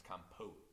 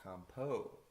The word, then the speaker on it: compote: Oh no, I understand that, and I'm saying it wrong. It's compote. Oh, compote.